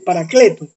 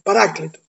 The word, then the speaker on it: paráclito: mantener el término paráclito nos cuesta porque la fuerza de la costumbre del paracleto no es paráclito Entonces el paráclito en